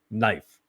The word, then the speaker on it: knife: There are things that don't, knife, silent K.